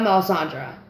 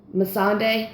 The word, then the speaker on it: Melisandre: name you know I'm talking about it's not Melisandre Mossad day there we go uh-huh and grey worm saying